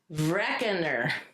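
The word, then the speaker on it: Vrekner: This is pronounced recker. I think it's German.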